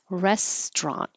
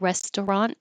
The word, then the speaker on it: restaurant: It is spelled with three syllables. It looks like restaurant. And according to the dictionary, we looked it up today and that's not wrong. Restaurant. But we usually drop that middle syllable and make it two syllables. So it's restaurant.